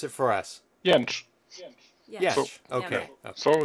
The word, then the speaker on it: Jentzsch: How about you pronounce it for us? Jentzsch.